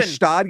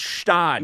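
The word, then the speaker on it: Gstaad: Gestad. You ever been to Gestad? Oh my God, it's called Stad. You No, don't pronounce the G.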